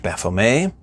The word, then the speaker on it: Baphomet: well some people will disagree with my pronunciation of the name favoring the more French FMA I've spent years calling it Baphomet will keep up with that personal tradition today but you can use either it won't hurt anything for